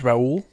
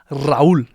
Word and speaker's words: Raul: My name is Raul, and if you want to roll your Rs, Raul, that's who I am.